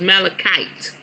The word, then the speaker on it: malachite: amethyst malachite malachite okay so it's malachite malachite is the proper way to say it thank you bae look